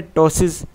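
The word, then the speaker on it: ptosis: रखिए इसके अलावा है टोस भी इसमें साइलेंट है ठीक है टॉस जो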